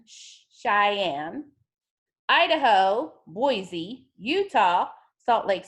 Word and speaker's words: Cheyenne: Olympia Nevada Carson City Montana Elena Wyoming it's pronounced Cheyenne Cheyenne Idaho Boise Utah Salt Lake City Colorado Denver